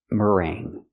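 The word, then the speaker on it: meringue: it is pronounced mering mering use the r sound like Burger m m mering then use the long a sound like day and say plus the nasal sound so you have rang like the past of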